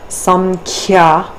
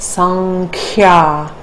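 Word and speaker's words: Sāṃkhya: Samkhya is actually pronounced sankhya because we want to take the anusvara to the nasal corresponding with ka.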